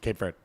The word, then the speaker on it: Cape Verde: Okay, the correct English pronunciation is Cape Verde. Okay. All right. Which I thought Don't say the E ever.